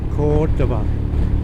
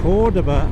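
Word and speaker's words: Córdoba: Cordoba. Now it's Cordoba. I reckon it's Cordoba because the accent is over the first O, so that's where the accent's got to be. Cordoba.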